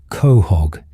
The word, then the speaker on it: Quahog: It's pronounced Khog in the show, her reflecting southern New England dialect.